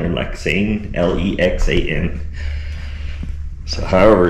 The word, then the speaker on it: Lexan: This is Lexon glass.